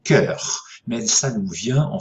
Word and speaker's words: cœur: Alors, on ne prononce en français moderne plus ces diphtongues, hein, donc on prononce maintenant cœur.